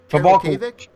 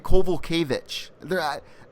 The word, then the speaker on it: Kowalkiewicz: That's what I thought, and people are saying Kowalkiewicz. I hear them pronounce their names differently all the time, so I don't know what. I'd see that usually in Polish, which she is, the WICZ is which, and I think the